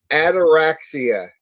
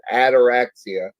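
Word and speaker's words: ataraxia: know this was an actual condition is called anorexia anybody know what that means anorexia it this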